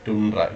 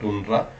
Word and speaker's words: tundra: Sometimes in the many people you might have studied about as tundra. It is not tundra. The correct pronunciation is tundra.